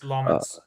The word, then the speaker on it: Lammens: How do you pronounce his name? Lmens. Lammen. Lmens. It's Lmens.